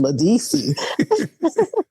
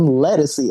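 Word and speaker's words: Ledisi: Her name is Ladisi. But then, once she got signed and, she came out and she's like, I'm Lettucey. I'm like, whoa, I've been saying it wrong all of this time.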